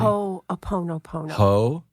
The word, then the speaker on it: Ho'oponopono: he met that was a Hawaiian practitioner of Ho'oponopono. Did I pronounce it correctly? Ho'oponopono.